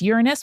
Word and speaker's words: Uranus: Gaia had some kind of relationship with Uranus, which is how you say that word, out